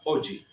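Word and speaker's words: hoje: La J, fíjese que se pronuncia como una y hoji.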